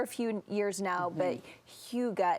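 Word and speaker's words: hygge: few years now but Huga it's Danish right and that means Comfort yes so this Danish word Huga although I sometimes pronounce it higgy even though I know it's not how you pronounce it but higgy sounds a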